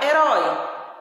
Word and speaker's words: herói: Então, eu sei que é no ró, é o som mais forte e ele é aberto. Se é mais forte, ele é sílaba tônica. E se tem o tom aberto, nós usamos o acento agudo, ok?